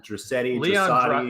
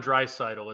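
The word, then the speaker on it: Draisaitl: this guy that's uh this leon dressetti leon dryscito is how you pronounce the name he is idol you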